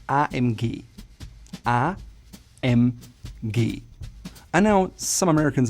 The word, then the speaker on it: AMG: The proper German way to say it would be AMG.